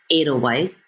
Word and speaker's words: Edelweise: My website is Edelweise. It's like the German winter flower, but it's spelled slightly different.